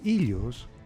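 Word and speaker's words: Ήλιος: to name a few overall Helios in Greek pronounced ilos was the son of the Titan God of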